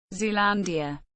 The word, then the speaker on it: Zealandia: Zealandia pronunciation Zealandi also known as the New Zealand continent